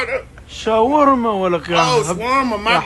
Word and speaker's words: shawarma: No, shawarma say. How you say it? Shawarma wrap. Shawarma wrap. Yeah. Not shamuta wrap.